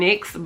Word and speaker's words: NYX: you guys I am going back and forth between saying NYX and Nyx but they actually did come out on their Instagram and say that it's pronounced NYX I've been saying NYX this whole time because I'm like what is the Nyx I don't know but it is actually NYX which is really surprising but this was like